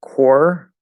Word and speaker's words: corps: but this c-o-r-p-s um the p is still silent um the only thing I'm not sure about um is if the S is also silent because I've heard it pronounced both ways I've heard core with the silent s and cores um